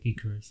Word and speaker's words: Gyökeres: going to say it my way, but the Gyökeres links. Gyökeres, isn't it? Gyökeres.